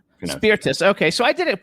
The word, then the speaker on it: Spirtas: kevin how do i correctly spell your uh pronounce your last name you correctly spell my last name spearfish spiritus spiritus okay so i did it pretty close earlier